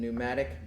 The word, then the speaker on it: pneumatic: There are two main types, and one is pneumatic, and pneumatic begins with a P. P is silent, but that means they run on air pressure.